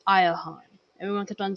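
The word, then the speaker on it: Iachon: i a c h o n but it's pronounced aahan everyone kept on saying ion so I was like aahan oh at this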